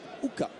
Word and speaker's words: Uka: Voilà, ça s'écrit Ika et on dit Uka en albanais.